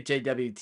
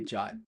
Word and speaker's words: JWT: say JW or JWT I say JWT because it's Jason web token but I've heard people say say jot too so me too I